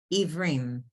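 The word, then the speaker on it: עִוְרִים: pokeach Ivrim. ivrim. Okay, The ayin is silent. Ivrim.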